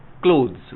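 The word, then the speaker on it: cloth: सी एल ओ टी एच जो word होता है उसका प्रोनाउंसिएशन है क्लॉथ।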